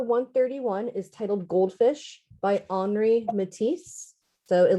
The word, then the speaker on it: Henri: is titled goldfish by henri matisse so it looks like henry but this is a french artist that would be pronounced henri matisse 1912 and this is